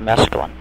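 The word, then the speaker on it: Mesklin: how you designed and built the world of masculine am i pronouncing that right that's right how did you go about designing the world of masculine it was mostly slide rule work part of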